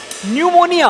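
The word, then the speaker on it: pneumonia: और मुझे यह पता चला कि निमोनिया की स्पेलिंग एन से नहीं पी से शुरू होती है। बताइए न्यूमोनिया और स्पेलिंग शुरू हो रही है पी से। कहते हैं इसमें पी साइलेंट है।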